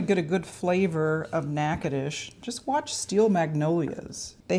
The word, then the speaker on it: Natchitoches: It is pronounced Natchitoches. It's nothing like it looks.